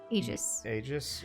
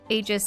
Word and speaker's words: Aegis: go aegis I mean I suppose a Greek pronunciation for a E is e like an elongated II but aegis mmm just doesn't suck doesn't sound as epic as Aegis or I